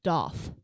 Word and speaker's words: daith: first I got a daith piercing but here's my fun fact it's actually not pronounced date it's doth and I only knew